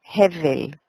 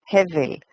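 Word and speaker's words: הֶבֶל: Y no es Abel, sino Hevel. Hevel.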